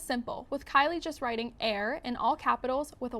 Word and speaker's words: Aire: a-i-r-e fans were confused about if it was pronounced like air or Airy an Instagram fan page for Kylie at Kylie's